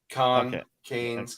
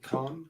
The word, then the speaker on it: Cannes: It's pronounced both ways. Cannes, Cannes. What's the Canadian pronunciation? Well, it's French. I did the European. I did the European. Yeah, Cannes. Yeah. Con. How do you spell it? C-A-N something. I think it's C-A-N-N-E. Con. It's Con, France, right?